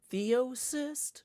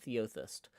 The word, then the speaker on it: Theosist: Theosist? Not Theothist.